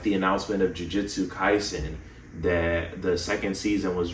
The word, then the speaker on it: Jujutsu Kaisen: But, and I mispronounced the name earlier. It's actually Jujutsu Kaisen Cursed Clash.